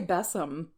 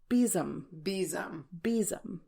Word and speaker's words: besom: I want to say bessum, but apparently it's beom.